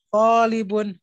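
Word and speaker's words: طالب: Li-nya tidak boleh panjang.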